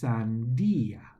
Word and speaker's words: sandía: So words that end in IA, check to see if they have an accent on the I or not, because this will change the pronunciation. So this is sandia, sandia. But if it were like this, it would be sandia with the emphasis on the first word.